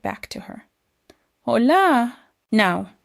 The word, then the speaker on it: hola: The letter H is completely silent. You never say the H sound. So, it sounds like Hola. So, I smile and say it right back to her. Hola.